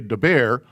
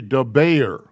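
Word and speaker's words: דַּבֵּר: b a y r you can slur it and say de bear but it's really de bayer the bear means speak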